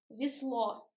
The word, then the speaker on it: весло: And весло, we write yeah, but we pronounce e.